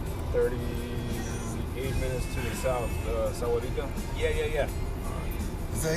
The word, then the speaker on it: Sahuarita: So you guys are 38 minutes to the south, Sahuarita? Yeah. Is that how you say it? Sahuarita?